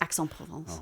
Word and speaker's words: Aix-en-Provence: Aix-en-Provence. Oh, nice. Yes. Just so you know the pronunciation.